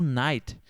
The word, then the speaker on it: night: perceba aqui tá pessoal uma questão de pronúncia o night o night Good night você pouco vai falar o t você vai deixar assim um t bem suavez inho Good night então perceba que eu pouco falo o t às vezes